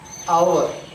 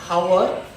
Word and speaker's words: hour: But the pronunciation, we pronounce our, not hour, it is our.